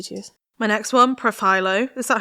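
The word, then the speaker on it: Profhilo: And she was saying she got Profilo. That is how you say it, isn't it? Yeah. Okay, Profilo? Profilo.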